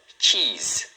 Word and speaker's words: cheese: Cheese. O único detalhe é que a pronúncia final aqui do se é um som de z, tá?